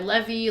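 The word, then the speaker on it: Lvy: some in incredible um it's spelled like Levis or no not even it's spelled l v y um please check him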